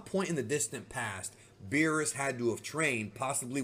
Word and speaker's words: Beerus: When the movie first came out, I remember people called him Bills, and that's an incorrect way to say his name, but it's one that is actually official in the Spanish dub because they felt like Beerus sounds too much like virus, which in Spanish means virus, and it really does.